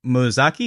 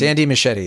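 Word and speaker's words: Muschietti: a working relationship ridiculous Andy musaki is that he pronounced the director's last name or mausi uh machete I I machete okay it's it's Andy machete yeah oh no wonder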